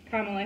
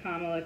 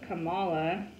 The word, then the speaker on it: Kamala: So I thought it was Kamala, but it's not. So, you know, you just kind of like learn from looking it up. And she was like, it's like comma with the la.